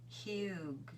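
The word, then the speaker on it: hygge: hide hy gge pronounced oh it's pronounced huge huge it's pronounced huge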